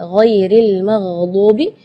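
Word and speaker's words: غير المغضوب: Di ayat ini yang pertama di makhraj huruf ghain ya, ghairil maghdubi ya, perlu diperhatikan bukan G, bukan huruf G ya, bukan ga, tapi gha. Jadi kalau ga itu dia makhrajnya dari lidah. Ya, tapi kalau huruf ghain itu dari bagian tenggorokan ya. Jadi gha.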